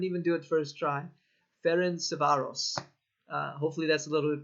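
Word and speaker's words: Ferencváros: Yes, they got their Champions League win against, and let me make sure I'm pronouncing this right. It's Ferencvaros. I couldn't even do it first try. Ferencvaros.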